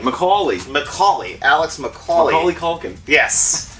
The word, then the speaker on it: McAulay: That's how you pronounce his name? McAulay.